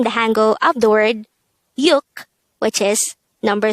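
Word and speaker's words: 육: Next, the SINO-KOREAN version of number 6 is yuk. Again, it's yuk. Just like numbers 1 to 5 of the SINO-KOREAN numbers, this is just composed of one syllable.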